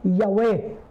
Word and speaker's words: Yahweh: YHWH, pinopronounce po yan na Yahweh.